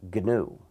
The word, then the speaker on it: GNU: our system it's pronounced gönül never pronounce it new you'll confuse people our system is not